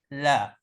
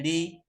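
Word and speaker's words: لَ: mubtada kemudian ini setelahnya Bacanya adalah la bukan Li Bukan lu tapi la pada asalnya dia di fathah kecuali kalau bertemu dengan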